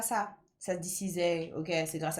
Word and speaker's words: SZA: On va l'appeler Za. C'est grâce à Za. C'est grâce à Ça, hein. Franchement, c'est grave à ça. Ça se dit Cizay.